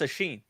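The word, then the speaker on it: Oisín: what's your name by the way well that's a Sheen a Sheen oh she is my name I was wondering how to pronounce that so yeah it's okay it's a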